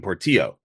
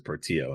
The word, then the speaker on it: Portillo: California when I see your name I assume Portillo and he said yeah my grandfather's from Spain but we're from Sweden it's Portillo but yet probably correctly pronounced as Portillo and I was like all right great cool